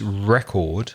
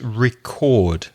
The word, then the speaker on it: record: again incredibly so the the noun is record but the verb is record notice the stress changes on the verb so a record a vinyl record stress the first syllable but the verb to record to record music stress the second syllable and Greg they need